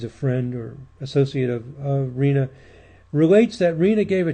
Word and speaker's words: Riina: Our last mafia leader, Salvatore, I guess it's pronounced Riina, or Riina, double I there.